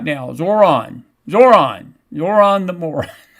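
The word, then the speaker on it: Zohran: You You need to learn how to pronounce my name or you need to pronounce his name right. Well, I got his name right now. Zoron.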